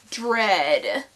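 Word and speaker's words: Dredd: on track number five rhymes with Ted dread I went to see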